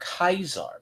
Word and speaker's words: Caesar: I call I call her Kaisar because that's exactly how you're supposed to say it. You are the Caesar Legion tradition or Kaisar's legion. It's called Kaisar.